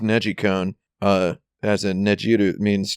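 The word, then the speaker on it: NeGcon: con is pretty fun uh the the it's pronounced Neji cone uh as in najiru means to rotate or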